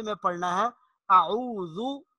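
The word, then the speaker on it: أعوذ: لہجے میں پڑھنا ہے۔ اعوذ، ذال جب ہم پڑھیں گے تو ہماری زبان کا کنارہ سامنے والے دانتوں کے ساتھ لگنا چاہیے۔ اعوذ باللہ، باللہ، یہاں لفظ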